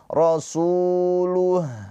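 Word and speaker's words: رسوله: Ha sukun mempunyai sifat rakhah. Apa itu rakhaah? Sifat rakhaah itu mengalir ee suaranya. Maka ketika ha sukun jangan langsung terputus atau tertahan. Rasuluh luh tapi ada aliran suara rasuluh gitu ya.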